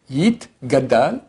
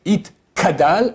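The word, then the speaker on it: יִתְגַּדַּל: Yit, gadal, et yit, kadash. Les gens font le contraire, des fois ils disent yit, kadal, et yit, gadash. Ça va pas.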